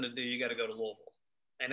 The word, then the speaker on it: Louisville: So, if you really want something to do, you got to go to Louisville. And that's how you say it, Louisville. Not Louisville, not Louisville, Louisville.